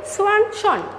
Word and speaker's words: Swanson: উত্তরটা হচ্ছে curl P সোয়ানসন।